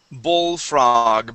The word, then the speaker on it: bullfrog: Bullfrog. Make sure to pronounce that L sound.